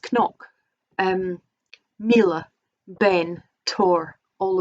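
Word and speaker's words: cnoc: think it'd be pronounced nyok or an noc um like knock natural which is the hill of the hostages um but i think the gaelic pronunciation technically is knock um mila ben tor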